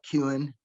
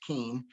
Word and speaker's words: Kuehn: facebook page is keane and it's got a weird spelling k-u-e-h-n looks like cuen but pronounced keen candidate for district 9